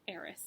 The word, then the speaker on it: Erised: called the mirror of Erised said not really sure if that's how you pronounce it but that's how they pronounce it in the audiobook so I'm gonna go with that all right Christmas was